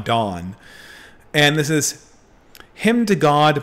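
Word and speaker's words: Donne: is john john don it's john dunne i think no it's pronounced john dawn and this is him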